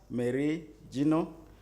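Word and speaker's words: Meri Jino: afternoon my name is marie gino i am the district chairperson cabon moderator i don't think you pronounce my name well mary is m-e-r-i then gino is j-i-n-o okay yeah so thank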